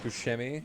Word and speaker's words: Buscemi: like if you like busami it's just nice by the way buscemi like that yeah okay it's italian so really he dates